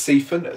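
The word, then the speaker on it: Seiffen: Obernhau is spelled O-L-B-E-R-N-H-A-U. And the other one is Siphon, which is S-E-I-F-F-E-N.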